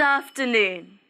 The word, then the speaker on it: afternoon: So, during this time, we say, good afternoon. Good. G-u-d. Good. Afternoon. Af-ter-noon. Afternoon. Good Pay afternoon. attention to the f sound. Good Af. Afternoon. Afternoon. Good afternoon. In this word, the stress is on noon.